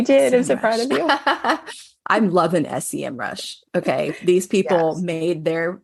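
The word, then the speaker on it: Semrush: yeah there's um an amazing tool that um SCM rush I I said it right yes you did I'm surprised I'm loving sem Rush okay these people made their tool for Minds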